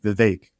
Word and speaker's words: Vivek: And he was like, "Vivek." Like cake. That's what he said.